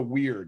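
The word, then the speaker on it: wyrd: looks like a web of the weird it's spelled w y r d okay so every interaction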